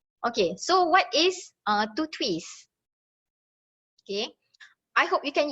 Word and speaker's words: TTWISS: So to twist is actually TTWISS, but to pronounce it easier, okay, let's just call it to twist.